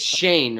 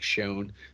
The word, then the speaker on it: Schoen: that's exciting news they've already got so it's shane right it's pronounced shane joe shane doesn't look like it looks like shone but it's yeah well it's his name do